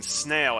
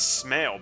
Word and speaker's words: snail: I mean, I do remember pronouncing snail as smail back then when I was in elementary school for a while, but after my sister pointed it out to me, I stopped making that mistake. Didn't you have someone to